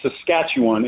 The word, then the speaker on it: Saskatchewan: to be on returning to Eden and it's pronounced Saskatchewan is the province the western province in Canada